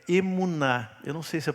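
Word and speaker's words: אמונה: hebraico que foi traduzida aqui como fé é emuná eu não sei se a pronúncia tá correta né É isso mesmo ozf que bom que hoje tá zf tá aí emuná é fé só que ela aparece muito antes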